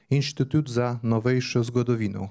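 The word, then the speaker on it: Inštitut za novejšo zgodovino: I'll try to pronounce it properly. Institut za Novejšu Zgodovinu. Am I right? Perfectly.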